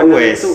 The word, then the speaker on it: Uwais: tulisannya Weiss setelah saya baca kaca ternyata emang dibacanya itu es bukan What is Oh wes wes Alqorni gitu tekan Kalau DX pasak Attaqwa